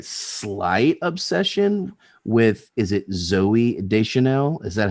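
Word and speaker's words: Zooey Deschanel: I just don't want to screw this up, but this movie started my slight obsession with, is it Zoe Deschanel?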